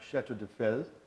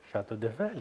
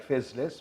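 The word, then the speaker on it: Château de Fesles: I worked at a very wonderful French word which sounds like Chateau de Fel and is spelt Chateau as we know Chateau, and de Fel is D-E-F-E-S-L-E-S. Ah Chateau bon? de Fel. Chateau de Fel. As you would say, it looks like Fezles, but no, don't say that.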